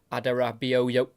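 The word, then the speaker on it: Adarabioyo: center back here of tosing adero that's how you pronounce it the Premier League of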